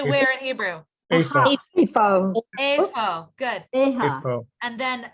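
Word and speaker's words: איפה: Efo. Good. Efa. So tell Susan, how do we say where? How do we say where in Hebrew? Efa. Efo.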